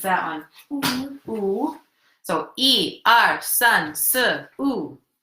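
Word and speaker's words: 三: the next one how you say that number son yes what sir okay keep going what's that one so II our son sir ooh not what I'm hearing new director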